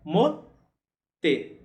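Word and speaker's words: 持って: Já o verbo ter ou possuir, no sentido de segurar alguma coisa também, se pronuncia motsu. Motsu. E a gente vai fazer mote, mote, mote.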